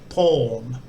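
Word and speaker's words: พร: the poor pan p consonant followed by raw so as a final consonant that follows a consonant it makes that one sound again so it says pawn and pawn is um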